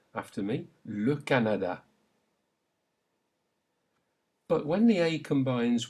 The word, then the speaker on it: Canada: Keep the A or A sound consistent. After me. Le Canada.